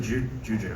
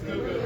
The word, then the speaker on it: Gugu: Am I pronouncing that correctly, or is it Juju? No, it's Gugu. Is it Gugu?